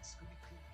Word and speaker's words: Scooty: Rhymes with cutie. Scooty.